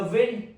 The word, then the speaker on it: wind: Example, the wind knocked over the tree. The wind knocked over the tree. Second one, wind. Rhymes with find.